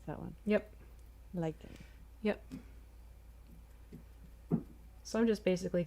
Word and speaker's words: lichen: Oh yeah, I was wondering how to pronounce that one. Yep. Lichen.